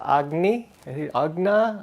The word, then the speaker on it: Agna: And Ringa and her sister Agna, I think it's like Agnes, but it's Agna, did I say it right?